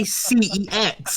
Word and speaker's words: CeX: Mum, I'm just gonna go to Sex to get this new 18-rated game on PS3. Then you say CEX like everyone That's like else.